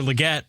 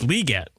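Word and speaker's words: Legette: Also, I've heard it Xavier Leggett. And when I was watching NFL Network today, it's Leggett.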